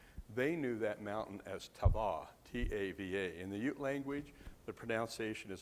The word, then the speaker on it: Tava: knew that mountain as tawa t-a-v-a in the Ute language the pronunciation is on the second syllable so it's taba is how it be